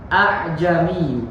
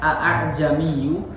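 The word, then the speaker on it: أعجمي: Cara bacanya adalah tadi membaca huruf hamzah yang kedua dengan ringan. Kan hasilnya gini. Tulisannya seperti itu. A'jamiyyu. Nah, di sini nggak dibaca tapi dibaca yang kedua itu dengan ringan. Yang pertama jelas a'jami, tapi nggak boleh dipanjangkan. Tidak boleh terlalu dipanjangkan karena di sini ada. Nggak boleh a'jamiyyu, tapi hanya sekedar diringankan saja. A'jami, gitu ya.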